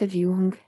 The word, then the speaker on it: Dung: His name is Dung, but it's pronounced Jung, hes Vietnamese.